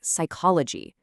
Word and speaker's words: psychology: This silent P shows up in a lot of words that come from Greek, especially words about the mind, like psychology.